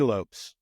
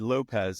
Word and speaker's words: Lopes: call them out but they constantly said Lopez and I'm like I I don't get it but yeah yeah I